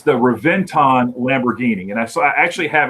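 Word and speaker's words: Reventón: yeah absolutely um actually i wanted you to pronounce the uh the the name of the lamborghini was it reventor it's the reventon lamborghini and i actually have it written down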